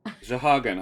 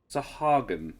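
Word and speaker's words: Sahuagin: I'm just checking my own pronunciation on it. Shahagan. I think it's pronounced Shahagan. Shahagan. Sahagan. Yeah. S-A-H-U-A-G-I-N. Sahagan is my guess at it.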